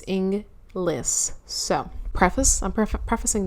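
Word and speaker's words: Inglis: and Rob englas I'm pretty sure I said Inus one time and that was really embarrassing for me because I had looked to make sure I was pronouncing his last name properly and I didn't it's inless so preface I'm pref prefacing this by saying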